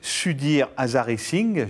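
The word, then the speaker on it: Sudhir Hazareesingh: Vous vous appelez Sudir Azaring, j'espère que j'ai à peu près prononcé votre nom.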